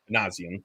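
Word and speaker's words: Minasian: Ron, how do I pronounce the Angels GM last name? Manazian.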